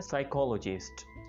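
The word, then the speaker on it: psychologist: कहा जाता है साइकोलॉजिस्ट, इसमें हमने पी प्रनाउंस नहीं करना होता, इसको कुछ लोग साइकोलॉजिस्ट बोल रहे होते जो कि काफी फनी और स्ट्रेंज है, लेकिन इसको इंग्लिश में बोला जाता है साइकोलॉजिस्ट।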